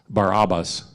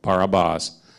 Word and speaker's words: Barabbas: So symbolically, the murder or this insurrectionist Barabbas, as I would actually pronounce it, because all A's are O's type sound, Barabbas means the son of the Father.